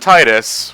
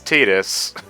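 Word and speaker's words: Tidus: and Kingdom Hearts 2 said Titus when it's tetus is there isn't there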